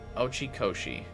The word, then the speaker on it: Oi Koshi: Oi Koshi is how you say it.